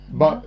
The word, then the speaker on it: Marc: Marc. No, you don't pronounce the C.